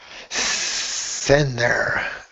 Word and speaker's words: center: good the word Center we do pronounce the T Center Center yeah I guess sometimes we kind of skip over that almost almost without almost totally yeah and I think it might depend on the person and the situation so maybe sometimes we don't pronounce that t and one more example